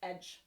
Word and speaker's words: ecg: wrote c um so their word for edge for instance is spelled ecg that's edge in old english if we want to